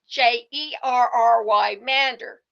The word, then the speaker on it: gerrymander: Although the pronunciation just changed over time, Jerry's name is now pronounced like Gary, but Americans now pronounce the word bearing his name like Jerry. Jer r y mander.